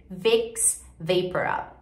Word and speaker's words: Vicks VapoRub: Em inglês, Vicks Vaporub. VapoRub, Vicks VapoRub. É muito diferente, gente.